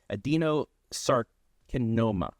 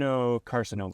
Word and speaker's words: adenocarcinoma: the team, was diagnosed with adenosarcoma. I think that's how they say it. Adenocarcinoma. Carcinoma, yes. It's a cancer.